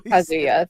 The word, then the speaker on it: Kazuya: I'm not even gonna Kazuya. There you go. Did I say it right now? Have I finally Kazuya, thank you.